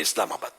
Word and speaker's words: اسلام آباد: صحیح تلفظ بھی ہے اسلام آباد، سمجھے کہ یہ عربی